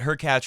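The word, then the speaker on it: Hurkacz: take a look at her catch rhymes with latch being extremely frustrated with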